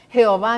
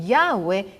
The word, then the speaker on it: Yahweh: ya llevaron de guerra es incorrecto que nosotros digamos jehová milham a eso no se dice se dice ya ve y 6000 hama ya ve varón de guerra es incorrecto que nosotros